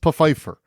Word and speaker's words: Pfeiffer: president's Black Butler Desmond peifer yeah it is pronounced peifer it's spelled like Fifer like Michelle Fifer yeah I think that was